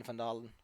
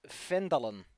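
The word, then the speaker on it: Phandalin: trading post in vandal actually i think there's a pronunciation guide and it's not pronounced like that which is just why you got to be like that bucko let me see if i can find it here we go it's fendalon findland i mean it makes way more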